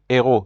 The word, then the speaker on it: héros: Like with hamac, it's the H here in hero is considered to not to be silent.